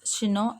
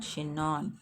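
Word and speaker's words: Chinon: hiding in she know it is ch I ñ no ñ which is pronounced as she know and not che non with his chin up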